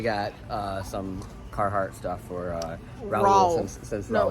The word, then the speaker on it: Raul: And then we got some Carhartt stuff for Raul. Since Raul. No, it's like Paul, but Raul. Raul.